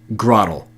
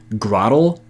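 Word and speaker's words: Grotle: and now without further ado here's the pokemon pronunciation that i could not believe grah ttle while this isn't a top-10 list of any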